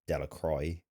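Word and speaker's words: Delacroix: Bobby and Harry Jones and Dicky Delacra, the villagers pronounced this name Delacroy, eventually made a great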